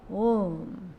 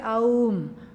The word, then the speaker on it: Om: In fact, the word Om is a Mahavakya. Because it is each and every syllable is loaded. Akara, Ukara, Makara. A plus U plus Om. You must not say Aum.